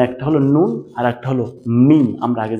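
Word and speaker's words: ميم: হরফ 29 টার ভিতরে দুইটা হরফ আছে যে দুইটার উচ্চারণ নাক দিয়ে হয় নাক দিয়ে উচ্চারিত হয় আপনি যদি নাক চেপে বলার চেষ্টা করেন তাহলে হবে না যেমন একটা হলো নুন আরেকটা হলো মিম।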